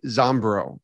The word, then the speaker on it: Zombro: who I know played pro baseball, Melvin Wimpy Zombro. Did I pronounce that right?